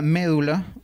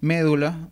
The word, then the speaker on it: médula: alternancia del latinismo medula médula muestra una situación similar donde la forma es brújula que es la anti etimológica ha terminado por imponerse actualmente nosotros pronunciamos médula no médula como era en latín igualmente solemos pronunciar y